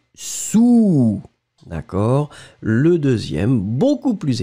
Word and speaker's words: sous: Encore une fois, le A très rond, ou, sous.